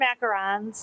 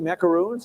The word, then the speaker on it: macarons: macarons. Oh, you make macaroons? I Or do ons or- macarons. I'm sorry. Uns are coconut. Oh, sorry. Ons are French.